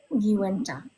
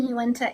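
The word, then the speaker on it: Uinta: Uenta is what I was hearing and I looked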